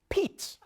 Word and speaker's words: Pete: It's pronounced Pete, okay? It's like peaches, but you just stop, all right? Pete, that's it.